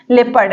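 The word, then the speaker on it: leopard: होता है ठीक है तो देखिए अगर ओ के पहले ई आए तो ओ सा ट होता है देखिए कैसे यहां पर देखिए पहला एग्जांपल हम लिए हैं लेपर्ड लेपर्ड मतलब होता है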